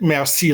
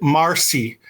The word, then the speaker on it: merci: But we don't pronounce it merci like the French Canadian. We pronounce it marcy.